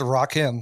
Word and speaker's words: Rakim: It's Rakim, like Rocky. Oh, like Rocket. Yeah.